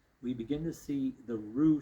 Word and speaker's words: Rugh: But perhaps it was an effort to keep pronunciation as rather than rock or rush or rough. And this sorry just to clarify maybe everyone else understands this is changing the name from ru to r u gh.